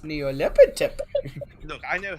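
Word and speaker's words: Nyarlathotep: knows anything about a Nylepotep? That's all. No, it's pronounced Neolepitep.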